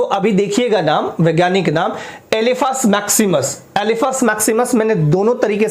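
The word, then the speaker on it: Elephas maximus: एलिफस। एिफेंट से याद रखिएगा एलिफस मैक्सिममस।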